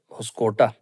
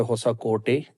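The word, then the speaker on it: Hosakote: شہر کے مضافات میں ایک قصبہ ہے ہوسکوٹا، جس کا مقامی زبان میں تلفظ ہوتا ہے ہوسا کوٹے، جس کا معنی ہوتا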